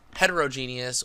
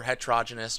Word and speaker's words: heterogeneous: that is known as heterogeneous or heterogeneous just depends on how you pronounce it homogeneous is uniform in